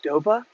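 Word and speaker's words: Stowa: Stoa on my channel, people are like, it's pronounced Stova. Okay, well, are you gonna pronounce BMW BMW? Because that's how they do it in Bavaria. It's not BMW, it's BMW. So yeah, if I was from Germany, if I was from the Deutschland, maybe I'd pronounce my Stova like a Stova, and maybe I'd pronounce my BMW BMW. But since I'm just a stupid American, I pronounce it BMW and Stoa.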